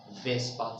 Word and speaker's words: VSEPR: However, it is spelled F-V-S-E-P-R. It is called Vespa Theory.